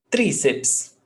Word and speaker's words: Tríceps: Tríceps. Tríceps. Paroxítona ending in PS.